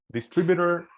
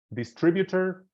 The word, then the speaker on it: distributor: distributor distributor it's okay you see distributor and distributor it's okay it's the same distributor sounds a little bit more English more England and distributor is more American both pronunciations are okay there is no good or bad between the two thank you very much